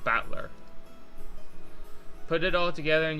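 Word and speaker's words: Battler: the characters for fight and person and it's pronounced batler put it all together and we've got yiro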